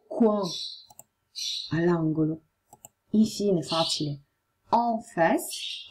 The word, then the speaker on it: en face: En face, en face, mi raccomando, si legge en, en face, di fronte.